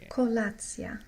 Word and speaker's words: Kolacja: Śniadanie, and we have the foods that are very popular for śniadanie, breakfast, and kolacja.